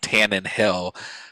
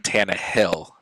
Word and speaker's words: Tannehill: i guess like i had always been saying ryan tannen hill but it's ryan tana hill so i never did